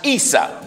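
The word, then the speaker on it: عيسى: In the Arabic language, it's pronounced Isa.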